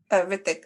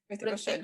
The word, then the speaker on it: Hrithik Roshan: So do you not pronounce the H at the beginning? Hrithik. I know, I just say Hrithik Hrithik Roshan.